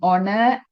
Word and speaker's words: honor: we pronounce these words, we don’t pronounce “h”. For example, “an hour”. Can you hear the “h” here? No. Because “h” is silent. For example,' " an hour", " an honor", "an heir", " an